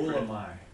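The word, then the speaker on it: βούλομαι: Well, first one is I want it, Bulamai. Oh, wait a minute, okay. There you go. Say that again, because I think you were right on your. Bulamai. Yeah, yeah. Oh, you was, yeah, Bulamai.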